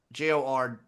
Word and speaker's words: Jordon: and the woman who wrecked Bill Belichick, Jordan Hudson, Oh, she's the best. Jordan, baby. Is that how it's pronounced? I just see it. It's Jord, like Jordon.